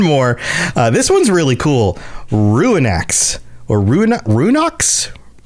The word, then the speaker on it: Ruinach: With a hard K, even though it's CH. Yeah, hard K. Runark. No, there's no R. There's not Runark. Ruinach. That's how I remember them pronouncing it when we saw these things. Mm-hmm. But yeah, I don't know. Ruinach is what I would pronounce it based on how it's spelled. But yeah.